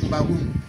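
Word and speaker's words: M'Bagu'um: Mbagoum s'écrit tel que vous voyez sur l'écran. M apostrophe B A G U apostrophe U encore M. Mbagoum.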